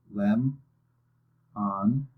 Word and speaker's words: lemon: you have lemon okay the vowel that's making the unexpected sound is the O again it's saying it lemon okay to figure out which syllable was louder put your hand under your chin and say the word again lemon notice how your chin hits her hand for the first syllable okay for this one